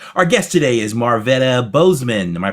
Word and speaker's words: Bozeman: Our guest today is Marvetta Boseman. Am I pronouncing that correctly?